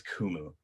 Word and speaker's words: Qumu: so for instance our our name is kumu right and we frequently show when we're showing how speech search work works is we spell it KO m o o and that drops it and that that gets close enough to the phonetic sound of the word so that it's able